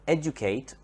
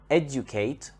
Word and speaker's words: educate: adjective for example the verb educate educate has the stress on the first syllable educate educate if we